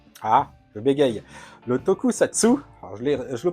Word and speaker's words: tokusatsu: Donc, par exemple, le tokukatsu. Ah, je bégaye. Le tokusatsu, alors je le prononce sans problème d'habitude, hein, vous pouvez me croire, là il fallait évidemment que je n'y arrive pas.